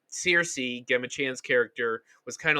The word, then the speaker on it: Cersei: to me that's how you say her name cersei yes yes sir so so a note about